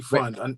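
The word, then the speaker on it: Pfund: Randy Fund. No, understand you know how to read the English language. It's Randy. It says Fund. P Fund. I'm sorry. Well, the P is silent.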